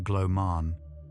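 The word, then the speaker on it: glaw mân: Glorman, pronounced something close to gloman, means the soft, fine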